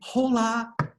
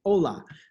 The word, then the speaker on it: hola: the example hola remember we don't say hola we say hola that helps reinforce that